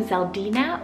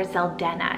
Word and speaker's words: Zeldena: And that is the name Zeldina or Zeldena, depending on how you want to pronounce it.